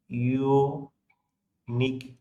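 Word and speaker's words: unique: এই যে ইউনিক ওয়ার্ডটা, এটা প্রনাউন্স হচ্ছে কিন্তু ইউ দিয়ে, ইউ একটা ভাওয়েল, বাট এটা কিন্তু সাউন্ডটা কিন্তু ভাওয়েল সাউন্ড হচ্ছে না, এটা এমন লাগছে না? ইউনিক, দেখো সাউন্ডটা মনে হচ্ছে ওয়াই দিয়ে স্টার্ট হয়েছে, তাই দেখতে ভাওয়েল হতে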